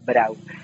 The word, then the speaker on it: Brau: Tulisannya Brau, tapi membacanya orang Jawa biasa Brau.